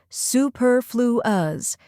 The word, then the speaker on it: superfluous: with stir and is the stressed syllable then we have flu which sounds like flu and influence finally we end with s a soft unstressed sound like the ous in fabulous now let's put it